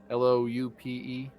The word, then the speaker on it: loupe: I think it's pronounced loop. Loupe. Pretty sure it's a loop.